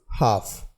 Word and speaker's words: half: Next word is हाफ, HALF। इस word में भी जो एल जो है वो साइलेंट है और इस वर्ड का जो हिंदी अनुवाद होता है वह आधा होता है।